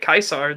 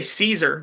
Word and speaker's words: Caesar: even if you don't pronounce the actual Roman German way of saying it Kaiser then even if you just say Caesar then I I still